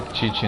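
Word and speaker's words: Qiqi: Que é Titi, né? A pronúncia correta, mas é Kiki, então que vai ser Kiki então.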